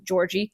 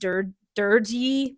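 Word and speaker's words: György: And he also sends a letter to Georgie Turzo. Her father? No. Her father's name was also Georgie. It's actually pronounced Durgy, but I can't really pronounce it really well without having a lisp.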